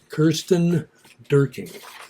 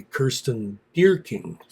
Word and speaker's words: Kirsten Dierking: Kirsten Dierking. Her last name is spelled, her first name is spelled Kirsten. Her Last name is Dierking. So it could be Kirsten Dierking, or no, it's just Kirsten Dierking.